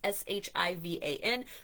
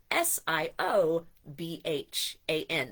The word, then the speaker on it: Siobhan: I know some people think Siobhan is Shivan, but it is Siobhan.